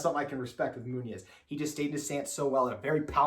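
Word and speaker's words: Muñoz: Anthony Munoz. Munoz, yes.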